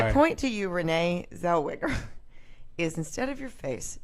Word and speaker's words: Zellweger: And then when they said her name, I was like, that's actually not Rosé Nellweger.